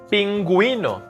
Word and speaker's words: pingüino: Pingüino. Penguin. It's not pinguino, it's pingüino. We have to pronounce the U.